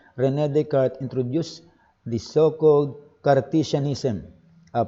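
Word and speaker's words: René Descartes: until the 16th century renee descartes pero the proper pronunciation is rene descartes introduced the so-called cartesianism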